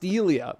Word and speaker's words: Selia: thank you very much want to correct you on my name it's pronounced selia okay thank you for